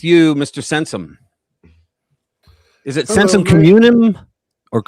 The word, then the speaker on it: Sensum Communem: Is it Sensum Communem? Or how do you say it? It's right. Communem, yeah.